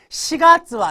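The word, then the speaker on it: 四月: 정답이에요 자 30번으로 넘어갑니다 시가츠와 이거 4월 할 때 또 용가라고 읽지 마시고요 시가요 4월은 아따따 나리마스 자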